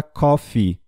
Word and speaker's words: coffee: Coffe Shop cofre shot não tem aqui a pronúncia da palavra coffee café eu ao longo o som do e